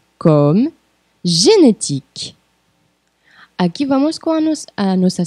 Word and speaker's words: génétique: G comme génétique. Aqui vamos com a nossa segunda dica de pronúncia. O E final é mudo.